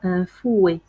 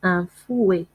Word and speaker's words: fouet: طراب اللي كنطربو به الكريمات والبيض كيتسمى بالفرنسية un fouet. un fouet. un fouet. لاحظوا جيدا معي عندنا لا لتر تي في الاخر ما كتنطقش، كتكون مكتوبه مي ما كتنطقش. كنقولوا ان فوي.